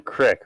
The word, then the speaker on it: creek: You keep saying creek. It's legit a creek. I know it is, but that's not how you pronounce it. I'm not saying crick. It's a crick, Ryan. No. It's a crick. No, a crick is what you get in your neck when you sleep on it sideways.